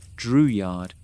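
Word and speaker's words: Drouillard: George Dreward, pronounced Dreward, signed on as an interpreter and hunter.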